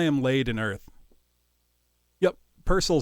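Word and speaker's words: Purcell: laid in Earth Yep purcel is always how I've heard it pronounced son but the tune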